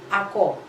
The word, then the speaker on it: ako: do you spell ako it's a two syllable word ah and then okay so ah and then ko ako all right one difference